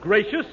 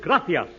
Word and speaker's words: gracias: okay muchas gracious Amigo no no no not gracious that word is gracias you see in Spanish the sea is pronounced th Gracia you see th you see